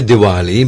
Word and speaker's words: Divali: Now, today is Diwali. Traditionally, we say Divali, but it's spelled with a V, Divali.